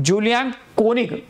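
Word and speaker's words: Julian Koenig: नाव दिलं होतं तर हे ऍडव्हर्टायझिंग रायटर होते जुलियन कोइंग ठीक आहे जुलियन कोनिक ठीक आहे प्रोनन्सिएशन बघून घ्या जुलियन कोनिक यांनी याला पहिले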